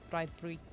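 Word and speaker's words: braai: I know you're Dutch, so yours is different, but in South Africa it's Brii.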